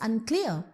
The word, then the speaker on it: unclear: So when you pronounce unclear, you should stress on the syllable clear.